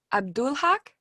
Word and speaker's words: AbdulHaqq: so first okay so matthew abdulhak is that how you say it yeah yeah yeah okay and what's your